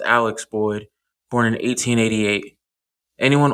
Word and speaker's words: Alec: After talking to family, the furthest I could go back is to Alec, most likely pronounced Alex Boyd, born in 1888.